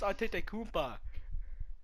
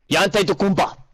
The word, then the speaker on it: Antetokounmpo: since you're so smart, Furby, can you please pronounce Giannis's name for me correctly? Giannis Antetokounmpo. Is that so? You make fun of me for saying Giannis Antetokounmpo, and you say Giannis Antetokounmpo, which is wrong. Greek. Antetokounmpo.